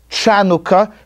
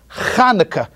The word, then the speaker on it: Chanukah: this holiday is hanukkah it's not shanoka it's not Chanukah it's not Hanukkah it's Chanukah now I know that you can't pronounce the CH because there's no sound of in the English language so I want you